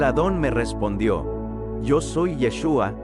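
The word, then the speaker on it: ישוע: podemos darnos cuenta que la forma de pronunciar su nombre en hebreo es yeshua Qué significa al traducirlo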